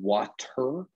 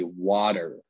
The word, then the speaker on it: water: Usually in American English, we pronounce a lot of T's like D's. So instead of saying water, we would say water.